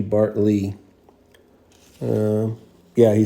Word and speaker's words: Bartley: is that um oh they spelled his name wrong bartl it should be Bart Lee um yeah he spelled